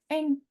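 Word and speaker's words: 円: Kemudian mata uangnya adalah yen. Dalam bahasa Jepang dibaca eng. Eng berarti kalau 1 yen ichi eng, 10 yen ju eng, 100 yen hyaku eng.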